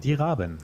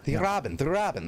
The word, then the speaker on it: Die Raben: Pronounce it for me, Bogul. It's German. Die Raben. Die Raben.